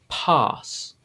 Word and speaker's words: pass: to sound an sound but in the british english it's a much longer sound and it makes it almost sound like you're trying to say the letter r pass pass r r you